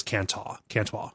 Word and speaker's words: can-toi: Is it Cantois? How do you say the CAN-TOI word? It is Cantois. Yeah. Oh, like a very fancy French.